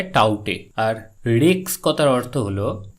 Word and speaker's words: Tauktae: আসলে এটি একটি মায়ানমারের দেওয়া নাম, যেখানে কে উচ্চারণ করা হয় না, অর্থাৎ এটার উচ্চারণ দাঁড়ায় টাউটে।